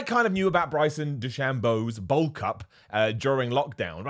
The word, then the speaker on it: DeChambeau: I care about it because I think it's pronounced Bryson Dechambeau.